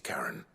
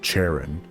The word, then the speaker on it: Charon: We need to speak to Karen. I do like how I've always thought it's pronounced Charon. They pronounce it Karen.